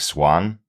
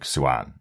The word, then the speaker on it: Siuan: We get her father, who pronounced it much more like Swan. Yeah. And we do get Moraine, who pronounces it a bit more like Siuan.